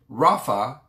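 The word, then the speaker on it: רפה: and then the word be still is pronounced rafa and it's spelled r-a-p-h-a-h which if i'm not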